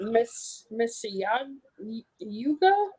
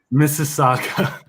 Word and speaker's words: Mississauga: So, and so tell us about, is it Miss Yuga? How do you say it? Mississauga. Mississauga.